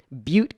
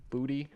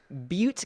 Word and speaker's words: Butte: chico returned to school butte county is that you pronoun pronounce it booty b-u-t-t-e i think it's butte yeah i wasn't going to